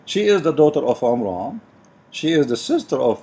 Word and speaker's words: Imran: run which is coming from the name of Imran Imran he Muhammad he could not pronounce the name correctly that's why it's coming funny so he said the Omer on let me look how even the mean in